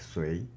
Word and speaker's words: Sui: The name of this hexagram is pronounced as Sui.